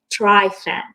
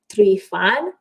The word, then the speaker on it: Trifan: would say you know they pronounce my last name as tri-fem but really because i'm romanian i pronounce it three fun so that's how the